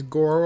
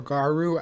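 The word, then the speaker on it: Garou: Next up is Goro or Garu. I think it's pronounced Garu.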